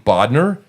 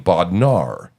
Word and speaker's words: Bodnar: people say my name Bodner and some people say my name bodnar right or bodar or or some people say my name bodar okay b o d n